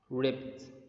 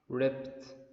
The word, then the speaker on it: ripped: Did you notice the pronunciation of D? We didn't say ripped. It's ripped. Okay, I will tell you when should you pronounce it like or as t sound, not d sound.